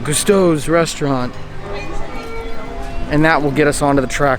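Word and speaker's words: Gusteau's: in front of it leading up into gastos gustos i said it wrong cousteau's restaurant and that will get us onto the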